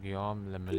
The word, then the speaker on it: Guillaume le Million: Okay, Guillaume le Million. If it doesn't rhyme, you're not pronouncing it right.